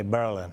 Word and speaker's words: Berlin: The locals say Berlin.